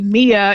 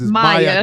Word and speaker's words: Maya: you always say Mia. It's Maya. Got it.